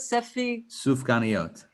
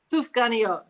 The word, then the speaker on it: Sufganiyot: How do you pronounce it? Sufganiyot. Sufganiyot, exactly.